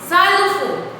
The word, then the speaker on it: xylophone: xylophone. How we are going to pronounce it? Xylophone. Xylophone नहीं बोलना है, it is called xylophone.